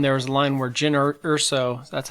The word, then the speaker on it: Jyn Erso: Well, I remember in the trailer of Rogue One, there was a line where Jyn Erso, that's how you say her name, right? Yeah, Jyn Erso.